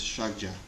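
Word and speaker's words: ཕྱག་རྒྱ: tibetan mudra is sanskrit the tibetan word is shagja two syllables the first of which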